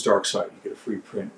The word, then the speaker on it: Darkseid: Don't call him Darkseid because that's the wrong pronunciation. His name is Darkseid.